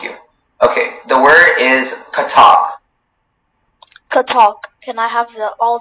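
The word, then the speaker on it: Kathak: Okay, the word is katak. Katak. Can I have all the information, please? Katak is the only pronunciation.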